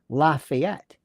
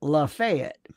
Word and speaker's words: Lafayette: in um in Florida, Florida where I'm from, they have a county called, you would think it would be Lafayette, but they pronounce it Lafayette.